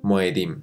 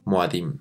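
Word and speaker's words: מועדים: Su plural sería Moedim, también pronunciada Moadim.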